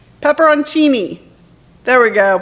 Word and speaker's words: peperoncini: little peppers you know what they are right peperoncini there we go peperoncini say it say with me pepper I'm tool